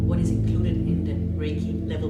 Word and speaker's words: Reiki: The word Reiki, pronounced Reiki, is a Japanese word.